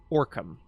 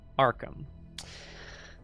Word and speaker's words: Arkham: I paused briefly because I think I said Orcam. It is, I believe, traditionally pronounced Arkham. Traditionally by North American accents.